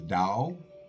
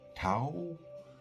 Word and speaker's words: Tao: And today I'd like to uh talk about the Dao Jilling and it's pronounced the Dao or Tao.